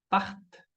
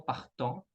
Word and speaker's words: partent: Anne, Luc, alors, partent et non partant. ¿Ya? La ENT de un verbo en ER a la tercera persona del plural jamás se pronuncia. ¿Ok? Es part y no partant.